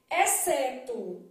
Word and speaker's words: exceto: seis letras cinco fonemas exceto o x não é lido Então eu tenho esse